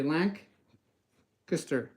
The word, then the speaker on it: Lancaster: saying Lancaster it's Lancaster Lancaster so you say Lank kister Lancaster Pennsylvania so if you guys are from